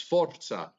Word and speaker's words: forza: Roll your R. It's Forza.